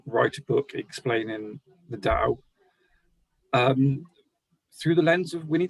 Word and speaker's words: Tao: So T became D over time, but the word itself is still pronounced Tao.